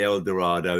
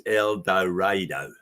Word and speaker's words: El Dorado: the theater it says don't say El Dorado it's eloro so and the reason I